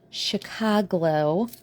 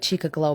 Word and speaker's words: Chicago Glow: All right, that was one coat of Chicago Glow, which just sounds weird to say. I like Chica Glow better, even though I know that's not how it should be pronounced cuz it's like Chicago but glow.